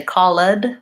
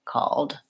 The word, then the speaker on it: called: it with no e we don't say Khalid we say called we don't say named ed